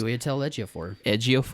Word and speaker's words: Chiwetel Ejiofor: Is that how it's pronounced? Chiwetel Ejiofor.